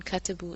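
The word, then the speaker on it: كتبوا: Notice that the aleph on katabu is not pronounced.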